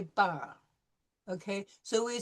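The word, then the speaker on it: parlent: Okay, then ENT is for third person plural, even though it's not pronounced any different than third person singular. So we don't say parlant, we say parle.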